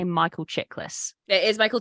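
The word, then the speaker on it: Chiklis: and I want to say I'm probably gonna mispronounce his name I want to say Michael chicklas it is Michael chicklas a oh my God we were so close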